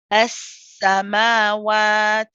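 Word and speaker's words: السَّمَاوَات: Now, notice in this word we have two scenes. We have the joining one when we say S, and then you have the one with the fatha, the sa. So the joining scene, again, it's a rahawa letter, as I mentioned. It's a joint one. So it's just how we said S, we'll say that again.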